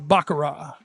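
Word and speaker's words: Baccarat: The Bakar.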